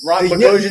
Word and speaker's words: Boghossian: And our guest this week is Peter Rhymes with explosion. Boghossian explosion. Ooh, the Boghossian explosion.